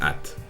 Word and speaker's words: @: mi computadora en inglés el ara se pronuncia at por lo que básicamente